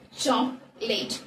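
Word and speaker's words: chocolate: அதோட correct pronunciation சாக்லேட். இந்த second, அதாவது ஃபர்ஸ்ட்ல வரக்கூடிய ஓவை வந்து நம்ம யூஸ் பண்றோம். செகண்டா வரக்கூடிய ஓவை வந்து நம்ம அந்த இடத்துல சைலண்டா யூஸ் பண்ணணும்.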